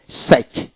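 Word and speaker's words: psych: সাই বয় এস পি এস ওয়াই সি এইচ সাইক সাইক এখানে পে উচ্চার হবে না তারপর আসেন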